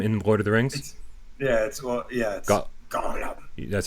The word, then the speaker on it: Gollum: It's Gollum. That's how you pronounce it, Gollum.